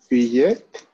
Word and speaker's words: billet: How do you pronounce that in French? Billet. Yes. It is silent.